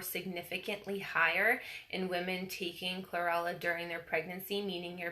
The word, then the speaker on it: chlorella: Chlorella. I always think of Cruella de Vil. Chlorella.